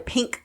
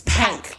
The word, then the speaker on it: Pynk: Oh, they're pink doors. Yeah, but it's pank. Okay. Pank. I got you. Because you got to say it like they say it.